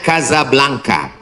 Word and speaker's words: Casablanca: Ibu kotanya tulisannya Casablanca. Cara bacanya Kazablanka. Kaza artinya rumah. Blanka artinya putih. Kazablanka rumah warna putih.